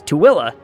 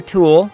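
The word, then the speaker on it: Tooele: It's Tilla. Tilla. Tuella. It's where I used to work. Place sucks. Most people try either Tulle or Tuli.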